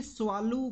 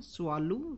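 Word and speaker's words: Tswalu: जाए आप देखिए कि स्वाल कालाहारी एक रिजर्व है अफ्रीका के अंदर में यहां पे टी लिखा जाता है स्वाल कालाहारी स्वाल ये टी बेसिकली साइलेंट रहेगा और स्वाल कालाहारी नाम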